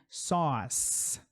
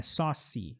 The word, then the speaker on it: sauce: CE aqui, que tem um som apenas de S, né? Sauce. Não é saucy, sauce.